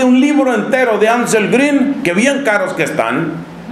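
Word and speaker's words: Grün: el agua con 16 la alemana con diéresis que se pronuncia como la vid francesa entonces es ángel green bueno este señor escribe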